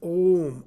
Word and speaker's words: Om: Now in pronouncing this Om, A, U, Ma, your tongue is in no way used.